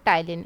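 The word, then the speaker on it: ptyalin: दूसरा नाम होता है टाइलिन यहां पर पीस्ट साइलेंट रहता है आप टाइलिन ऐसे मतलब की प्रोनाउंस कर सकते हो टाइलिन टाइलिन जो होता है एकदम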